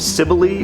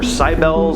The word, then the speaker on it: Cybele: Next on the list is the Cult of Cybele or Cybele, it's different pronunciations, but the Cult of Cybele or Cybele,